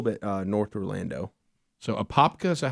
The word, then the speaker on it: Apopka: So Apopka, is that how you say it? Apopka.